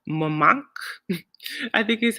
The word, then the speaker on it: Montmartre: We walked around one day in Paris in a town called Montmartre. I think is how you say it. Montmartre. I noticed the French, they like roll their R's. So it's Montmartre.